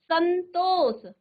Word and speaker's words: संतोष: हो जाएगा अब देखिए स के ऊपर जो अनुस्वार बिंदी लगी है वो उच्चारण किसका कर रहा है सन सन यानी आधा न का उच्चारण कर रहा है जो